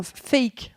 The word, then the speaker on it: PHEIC: pandémie à la première ils appellent ça un fake c'est marrant parce que fake en anglais ça veut dire faux comme dans fake news alors ça s'écrit pas pareil ça s'écrit pheic donc c'est public house